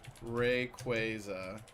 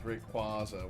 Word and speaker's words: Rayquaza: thing on display, or it was like commonly mispronounced names. One of them was Rayquaza. They confirmed that it is for sure Rayquaza, which is fine with me, but I definitely said it as Rayquaza when I was a kid.